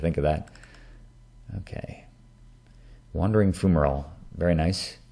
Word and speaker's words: fumarole: Actually, it's Fumarole. I've been calling it Fumarole for ages because I heard it in some video, some volcanism video years ago, but it's actually pronounced Fumarole, like the way it looks, rather than Fumarole.